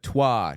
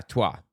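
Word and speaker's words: Twa: Tosi tribe and there's the Tua tribe I believe is how it's pronounced yeah tuah Tua is the uh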